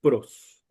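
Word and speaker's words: πρός: Entonces, pros es una preposición, se pronuncia pros.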